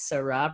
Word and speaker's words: Sa Rah: Her name is Sa Rah, pronounced like the wine.